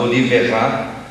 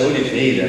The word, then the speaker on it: Oliveira: E um outro time, quase todos jogadores de salto muito alto, dentre eles um chamado Oliverá, que na verdade é Oliveira, né? Colocaram a pronúncia francesa no Oliverá em tantos outros que